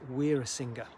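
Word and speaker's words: Weerasinghe: have a spelling like my surname is we're a singer all right hence doctor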